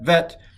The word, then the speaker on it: vet: But he does the Bet with the dot in it as Bet, and the Bet without the dot in it called Vet.